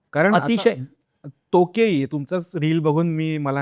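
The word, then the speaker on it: 時計: तर त्याच्यावरून ते टो आहे की तो आहे हे नाही कळत. तर तो आहे तो.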